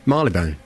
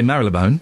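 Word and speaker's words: Marylebone: r y l e b o n e marleybone oh you do okay you got that wrong right cuz some people I'll give that it got it's Marley Bone it's marleybone of course some people say Marone it's London Coney Colony no it's not London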